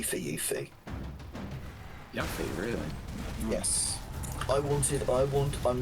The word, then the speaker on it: Yuffie: Yes, but it's Yuffie. I can say that with definitive because they say her name in Kingdom Hearts and they say Yuffie. And Kingdom Hearts is correctly translated from its original part, so you know that it's that.